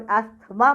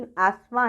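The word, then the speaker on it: asthma: एस्थमा, इसको बहुत से लोग एस्थमा प्रोनाउंस करते हैं, सही प्रोनाउंसिएशन एस्थमा है, जिसमें कि T और H साइलेंट होते हैं।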